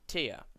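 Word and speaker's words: TIA: system um more accurately it is tear and tear is spelt t-i-a it is the tiered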